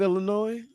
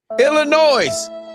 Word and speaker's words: Illinois: I said how they said you're saying the S.